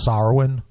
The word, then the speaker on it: Samhain: English wise at Samhain I've heard it pronounced SAR win' yeah yeah as more than Celtic so with that said sorrowing